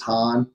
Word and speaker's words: Hahn: would have even knowing how the heck to pronounce it, man. So, but yeah, last name is Hahn, H-A-H-N.